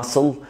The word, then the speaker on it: muscle: ال S C في الانجليش لما بيتجمعوا على بعض بيتنطقوا في الغالب زي س حرف واحد، فبنقول muscle science fascinate.